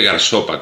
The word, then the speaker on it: Gairsoppa: Era el Garsope, Garsape, Garsopa. Lo he oído pronunciado de un montón de formas distintas. Se escribe Garsopa con dos S, tal y como suena.